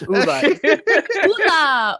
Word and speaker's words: Ula: Now Uda dance. No, it's Ula. Ula. You have to, yeah. And when you pronounce, she pronounces her own name wrong, but it's Ula. It's Ula.